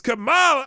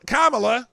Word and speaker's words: Kamala: you've seen so far Breitbart exclusive Trump crushes Kamal Kamala excuse me say it right don't be racist